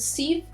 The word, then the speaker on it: Syv: Our main character is called Steve, is how you pronounce it.